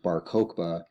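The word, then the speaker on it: Bar Kokhba: have a revolutionary named Ben CBA his name sometimes pronounce pronounced baroka he led a revolution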